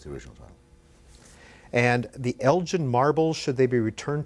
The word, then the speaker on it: Elgin: And the Elgin Marbles, Should They Be Returned to Greece? What is this very quickly about? It's actually Elgin, it's a hard G.